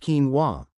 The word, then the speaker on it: quinoa: I'm talking about quinoa, pronounced quinoa, a staple of the ancient Incan diet, known as the mother of all grains.